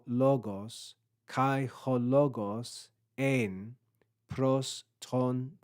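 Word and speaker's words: πρὸς: We then have P, Rho, Omicron, and final sigma with grave accent, pros, pros.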